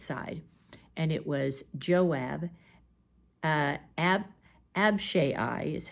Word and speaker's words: Abishai: officers on David's side, and it was Joab, Abishai is how you pronounce it, and Ittai.